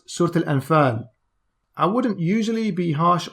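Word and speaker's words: Surat al-Anfal: to ibn abbas surat on unfull he said jeez assad allah is butchering that pronunciation it's not pronounced certain enfin it's pronounced surtil and fern i wouldn't usually be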